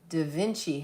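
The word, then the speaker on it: DeVinci: at a place called Dainci House website like Leonardo da Vinci. It's spelled a little differently.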